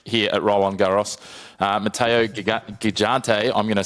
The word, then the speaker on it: Gigante: Matteo Gigante, I'm going to say that wrong. Christian, you're the Italian. I'll let you correct me. Yeah, Gigante is how it's pronounced.